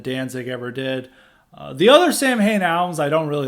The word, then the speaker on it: Samhain: Third album would be Sam Hain, November Coming Fire. And I know Sam Hain's supposed to be pronounced Samhain, but Glenn Danzig, he did this band after